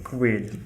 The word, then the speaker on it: Coelho: Coelho! Exactly. And then the sound A is the sound of the letter A, it is the closed A. So when I say Coelho, I'm pronouncing the E